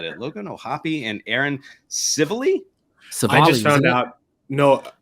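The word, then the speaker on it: Civale: Well, I think I said Civili. Yeah. Civ Ali. Yeah. Civ SIV-ALL-E. Civilly. Civilly. He's Somali to me.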